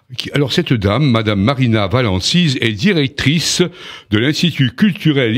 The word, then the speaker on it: Valensise: Je suis heureux d'accueillir aujourd'hui Madame Marina Valancise, c'est bien cela, ainsi que l'on prononce, c'est de l'italien. Oui, Valancise.